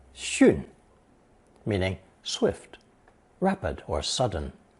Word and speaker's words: 迅: Now that we've seen the character for flying, 飞, we can learn another one based on it, pronounced fourth tone, 迅, meaning swift, rapid, or sudden.